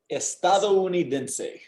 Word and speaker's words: estadounidense: So break it down by, so every now and then we get these big, long, complicated words, right? Don't get scared of them. Just break them down by the vowels, right? So you've got a syllable for each vowel here, right?